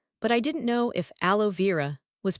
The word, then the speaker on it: aloe vera: For sunburn, yes, aloe vera is used, but we pronounce it aloe vera.